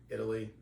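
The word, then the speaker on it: Eataly: It was at a place called Italy, phonetically Italy, except it's E-A-T, eat.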